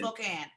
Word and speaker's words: Spokane: You know, most people end up saying Spokane, so you get props for saying it right.